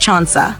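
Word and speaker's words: 천사: His birthday itself is interesting because in Korean, October 4th is 1004, pronounced Chansa, which literally means angel.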